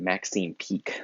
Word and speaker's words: Peake: way the version uh stars a woman named maxine peake so if you go find that version um